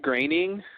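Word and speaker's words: Groening: on wikipedia says it it rhymes with raining well there you go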